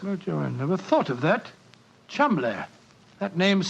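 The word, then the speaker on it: Cholmondeley: And being an American, he had no reason to know that the name Chumley is in no way pronounced the way it is spelt. But I never thought of that. Chumley.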